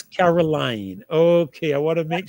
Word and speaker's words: Caroline: And a pleasure, Carolyn, Did I pronounce that correctly, or is it Caroline? Caroline. It's Caroline.